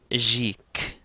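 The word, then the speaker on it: ϫⲱⲕ: Another word that we see often is Jik, Jik. Again, because the Ita follows the Ganga is going to take a soft G sound or a J sound.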